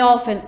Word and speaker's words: often: A letra B, o som da letra T em often é mudo.